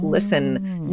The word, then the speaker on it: listen: the word listen so listen never had its T pronounced listen no nobody says